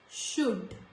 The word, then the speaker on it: should: In these words, when letter L comes before letter D, it is silent. So, could, not could, could, should, would.